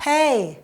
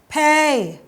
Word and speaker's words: play: กัน คำ ที่ 1 Play pray Play ต่าง กัน มย อ่ะ เด็ก ๆ ลอง ออก ตาม นะ คะ Play Play Play อ ฟัง